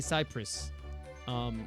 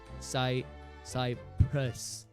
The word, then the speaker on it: Cyprus: It does just say Cyprus. It's a schwa sound. Cyprus. Schwa. I don't know if people know schwa, but it's a the sound. Cyprus.